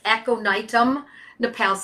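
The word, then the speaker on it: Aconitum napellus: use the full word, it's two words, aconitum Napalis, exactly the way it sounds, folks. It's Latin, so think of it, it's phonetically correct.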